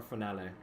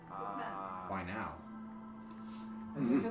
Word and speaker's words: finale: What's better, the final or finale? Fine now. I was gonna say final. You pronounce finale like tamale. That would be the worst one.